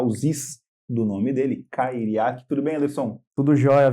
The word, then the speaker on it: Cairiac: Ele me ajudou a pronunciar os do nome dele, Cairiak.